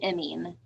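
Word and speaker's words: imine: of the pronunciation um it's an emine um so i m i n e um and then an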